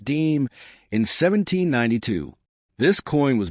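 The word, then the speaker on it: disme: The first official 5-cent coin issued by the United States was a half dime, pronounced deem, in 1792.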